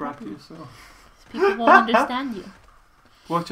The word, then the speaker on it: brachiosaur: Oh, and this dinosaur is called That's a brachosacosaurus. Say it properly. You have to say it's a brachiosaur.